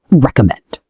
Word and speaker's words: recommend: Another tricky word is recommend. Recommend. Recommend. The stress is on the last syllable.